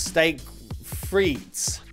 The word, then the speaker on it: steak frites: And in English, you pronounce it Steak Fries, but the Belgiumese is, I believe, a lot more complicated. You actually pronounce steak frites.